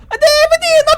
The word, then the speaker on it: David Eno: by the way, David Eno is pronounced like an Italian name. Davidino Pipola! Professor Is that how you want us to do it? Yeah. Davidino Pipiola!